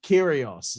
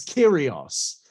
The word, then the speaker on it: Kyrgios: Wade Barrett trying to be very topical there on commentary, mentioning something with a Nick Kyrgios. He said it wrong. It's Nick Kyrgios, isn't it? It's Kyrgios.